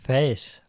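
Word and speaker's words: Faes: For Leicester, Danny Ward, James Justin, Wout Faz. I think it's pronounced Faz. Wout Faz.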